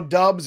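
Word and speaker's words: Doubs: off the waiver wire guarantee all right romeo dubs or dobbs have we got enough ruling on this yet have we gotten ruling on the dubs it is dubs right all right so just want to be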